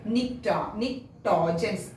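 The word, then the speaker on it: pnictogens: Nitrogens. P is silent here.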